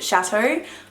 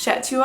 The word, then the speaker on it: Chateau: I just didn't know how to pronounce the word, to be honest. So I thought the song was called Chetua. I don't know what I said. I think I said Chetua or something, because it's kind of spelled like cheat.